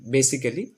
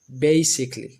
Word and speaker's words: basically: 2 নম্বরটা, এটা আগে আমরা উচ্চারণ করতাম বেসিক্যালি, তো আমরা বেসিক্যালির পরিবর্তে এখন উচ্চারণ করব basically, basically, basically, basically.